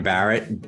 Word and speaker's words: Bahret: you can find me on LinkedIn it's Barrett my last name is spelled b a re T my company is